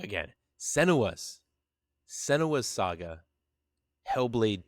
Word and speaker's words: Senua: So, without further ado, guys, part 2, Senua's. I said it wrong again. Senua's Saga, Hellblade 2.